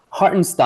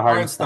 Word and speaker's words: Hartenstein: They picked up the Knicks center, how do you pronounce his name? Harris? Hartenstein, I believe. Hartenstein, Hartenstein, yeah, Isaiah Hartenstein.